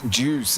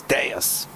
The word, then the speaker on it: Deus: Just being told how to pronounce Deus. Deus. Juice is not juice, it's Deus.